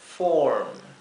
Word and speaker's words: form: la última es form una o bien larga form form no significa forma